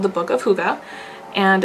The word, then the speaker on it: hygge: of that would look really nice in a hygge room as well because it adds that texture